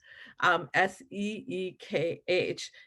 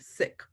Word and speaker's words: Sikh: So if you pronounce it, think of it as S-I-C-K, but with an H at the end, Sikh, right?